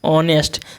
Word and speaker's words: honest: क्या लिखा हुआ है ऑनेस्ट देखो एच जो है वह साइलेंट होता है एच क्या होता है साइलेंट होता है इसको पढ़ते हैं ऑनेस्ट ऑनेस्ट मतलब क्या होता